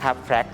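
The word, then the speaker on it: FRAX: เอง โดย ใช้ เครื่อง มือ ที่ เรียก ว่า fact สะกด f r a x นะ ครับ แพรก ซึ่ง จะ หา ได้ ใน อินเตอร์เน็ต นะ ครับ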